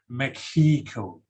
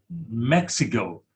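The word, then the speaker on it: México: is English pronunciation but the Mexican people they pronounce the country Mexico okay it's not Mexico that Mexico is like Thai or their English pronunciation but for uh Spanish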